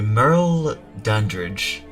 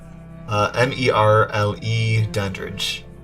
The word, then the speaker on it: Merle Dandridge: Looks like she's voiced by Merle Dandridge. I think that's how it's pronounced. Let's see. Yeah, Merle. M-E-R-L-E Dandridge.